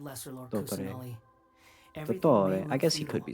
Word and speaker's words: Dottore: Dottore. I guess he could be saying it right. Maybe I'm wrong. No, he's still saying the T's too much.